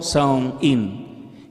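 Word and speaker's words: Samhain: el antiguo festival celta conocido como sangin pronunciado como sound in qué significa fin del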